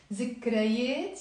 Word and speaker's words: ذكريات: Notice I wrote it with the that, but I'm pronouncing it as a Z in the Lebanese accent. ذكريات يعني memories.